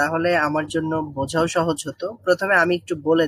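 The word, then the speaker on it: ث: যে দাঁত দুইটা থাকে যেটা হাসলে দেখা যায় সেই দুইটা দাঁতের সাথে একটু লাগান হ্যাঁ লাগিয়ে একটু উচ্চারণ করার চেষ্টা করেন তো নরম করে শক্ত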